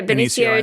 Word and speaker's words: Benicio: Oh, Benicio? Benicio, is it? Yeah, Benicio, Benicio del Toro in it.